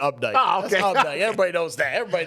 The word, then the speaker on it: Opdyke: the Quinn Drake you probably call uh Opdyke Road update don't you oh that's definitely update okay everybody knows that